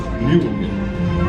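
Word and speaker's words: Mjölnir: It's pronounced Mjolnir.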